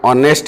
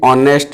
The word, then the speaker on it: honest: hour it is an honest engineer is an honest engineer honest we can notice that the sound H is silent in the word such